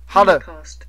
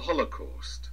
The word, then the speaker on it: Holocaust: 英国人发音的时候，把那个 call 哈，把它拉长。